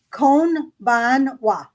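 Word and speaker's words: こんばんは: So what Robert says, it's kon ban wa. Yeah. That's how you pronounce good evening.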